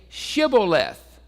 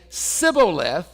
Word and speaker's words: shibboleth: him then say shibboleth and he would say syboleth for he could not pronounce it right so the ephraimites had something about either the way they learned to speak their particular dialect I don't know exactly why but they had difficulty pronouncing the h they couldn't say shibboleth it would be sibileth and that way they